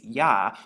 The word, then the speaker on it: Yah: or ha and so we have the Y and the he which makes yah when you put it together together and you actually